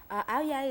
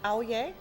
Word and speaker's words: áo dài: So, and we pronounce it áo dài? Yeah, That's áo dài.